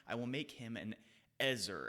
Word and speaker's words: ezer: I will make him an ezer." And I use the word ezer, not helper, there intentionally, because that's actually the Hebrew word there. The word is pronounced ezer.